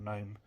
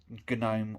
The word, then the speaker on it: GNOME: Yes, it's pronounced GNOME, not GNOME.